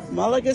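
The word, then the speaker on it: Málaga: We found some Trevorian folks here in Malaga. Is that how you say it? Yeah. Malaga, Spain.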